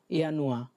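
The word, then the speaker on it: Januar: এই প্রোনাউন্সিয়েশনগুলো আরেকবার বলি, শুনেন, তারপর আপনাদের থেকে নিব। ইয়ানুয়া, যেটা জানুয়ারি, জানুয়ারি হচ্ছে ইয়ানুয়া।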